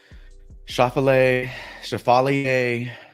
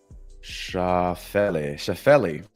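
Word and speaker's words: Schauffele: We got Chevalier. That's not how you say his name. Shafeli.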